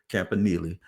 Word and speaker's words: Campanile: Campanile.